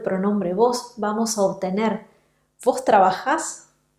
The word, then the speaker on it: trabajás: vos, vamos a obtener vos trabajás, vos comés y vos vivís. La sílaba final es siempre la sílaba que va a sonar más fuerte porque se trata siempre de palabras agudas.